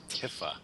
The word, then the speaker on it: Tifa: It's pronounced Tifa.